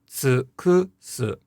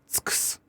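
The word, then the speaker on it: 尽くす: However, if you devoiced all of the u's in this word, which again, technically speaking, you could, then the final pronunciation would be tsukus, tsukus. And you wouldn't say any vowels, and again, the word would carry no pitch.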